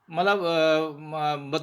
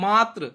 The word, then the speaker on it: मातृ: अब जैसे मातृ है ना, मातृभूमि में तो लोग क्या बोलते हैं, बहुत सारे बोल देते हैं मात्र, बहुत सारे स्वयंसेवक बोलते हैं मात्र या मातृ, तो वो गलत है।